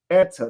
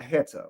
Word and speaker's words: eta: you guys see that it's pronounced ETA not heta right so what does